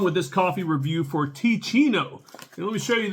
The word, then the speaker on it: Teeccino: let's get on with this coffee review for T Chino and let me show you this so you can know how to spell it t e e c i n t